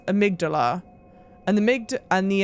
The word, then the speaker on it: amygdala: a very intentional pronunciation it is not the correct pronunciation for that word the connect correct pronunciation for that word is amygdala and the AMD and